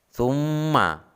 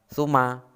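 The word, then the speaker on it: ثُمَّ: Summa Hai cara membacanya Hai Fuma minimnya seakan-akan double atau dua Suma bukan cuma tetapi Hai contoh berikutnya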